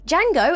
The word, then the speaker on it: Django: Fox's Jango tellingly when D Jango tells him that the D in his name is silent he retorts with I